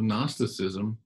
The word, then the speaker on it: gnosticism: you gnosticism is spelled g-n-o-s-t-i-c-i-s-m it begins with g the g is silent it's gnosticism it was